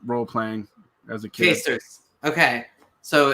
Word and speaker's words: Quaestors: I actually know how to pronounce Quaestors from role playing as a kid. Quaestors.